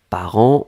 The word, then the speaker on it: parents: on l'écrit au pluriel ici part1 nts d'accord par an on prononce pas le thé on prononce pas lui